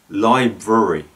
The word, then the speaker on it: library: is the word library now the first r often gets forgotten in library but in fact it's library for example i'm going